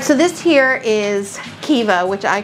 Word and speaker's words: Caoimhe: It's spelled Caoimhe. Okay. But the name is Kiva.